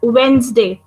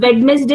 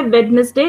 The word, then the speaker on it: Wednesday: Okay, Wednesday नहीं बोलते, लिखने में जरूर आता है Wednesday, लेकिन when we speak, it is Wednesday. Ma'am Yes, बच्चे. मैम वेडनेसडे में डी साइलेंट होते हैं क्या? Yes, it is silent. So it is Wednesday.